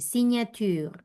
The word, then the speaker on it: signature: ¿Cómo suena la GN, Lucía López? Suena en ñ. Entonces, ¿cómo reemplazamos aquí? Sauvignon, Muy bien, seguí. éloigner, Muy bien, éloigné, no pronunció la R. Y la última, signature, re bien, signature.